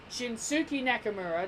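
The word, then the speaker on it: Shinsuke Nakamura: Shinsuke II Nakamura no I'm not pronouncing it like the Americans dies before you get pissed at me she Suki Nakamura they gemenon see the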